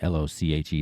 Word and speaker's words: Lochi: It's @ryanlochi, l o c h i. That's how you pronounce my name, by the way, Lochi.